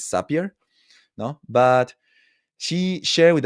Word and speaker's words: Zapier: Well, I think that the right way to say it is Zapier.